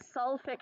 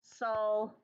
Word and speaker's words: sulfuric: So it's going to be, normally we would think sulfic acid, but that is not correct. It's actually going to have the extra syllable, so not just sulfic, but it's going to be sulfuric acid.